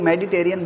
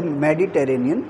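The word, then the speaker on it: Mediterranean: में इसको बोलते हैं आमतौर पर हम हम लोग मेडिटेरियन बोल देते हैं लेकिन इसकी सही जो स्पेलिंग है वो मेडिटरेनियन सी भूमध्य सागर भूमध्य सागर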